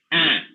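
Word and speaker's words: heir: bear, air, H-E-I-R. அது H silent. air.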